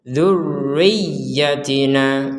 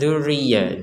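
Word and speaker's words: ذريتنا: tu dibaca dengan samar Kemudian di sini ada dua tasdid Nah ini yang namanya tasdid masih ingat tasdid itu artinya adalah ditekan durriri jadi tidak sekedar Duri kemudian di atasnya ya juga ada tasdid maka dua-duanya ditekan ini rnya ditekannya ditekan cara bacanya durriyatina durriyatina durriy Riah jadi jangan sekedar zzriah dzriah kan enggak ada tekanan itu nah ini dua-duanya ada tasdid ini perhatikan dzurriyatina nah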